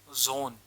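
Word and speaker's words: Sohn: अब इसका एक example, S ओ एच एन, जोन। ज क्यों लिया हमने यहाँ पर? श क्यों नहीं लिया? क्योंकि आगे वोवल है।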